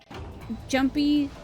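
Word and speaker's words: Junpei: forward actually also I learned apparently it is pronounced jumpy cuz that's um how what a con's voice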